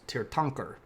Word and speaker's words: Tirthankar: It's pronounced Tirthankar.